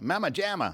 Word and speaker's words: Mama Jama: at the big mama gemma mamajima how do you pronounce that mama jama yeah pajama in hollywood california click